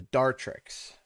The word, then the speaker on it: Dartrix: we want which is the dartrix or dart rix depending on how you pronounce it so we'll we'll hunt